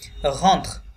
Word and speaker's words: rentre: পড়লে quand il, ঘন্ট, এখানে ঘন্ট হবে না কারণ ENT এটা হচ্ছে ভার্বের কনজুগেশন, আমরা পরবর্তী ক্লাসগুলোতে শিখব। সো এটা থার্ড পারসন প্লুরালের কনজুগেশন, যার কারণে লাস্টের en তে এটা সাইলেন্ট থাকবে। তাহলে আমাদের উচ্চারণ করতে হবে শুধুমাত্র R-E-N-T-R, ওকে? rentre, rentre.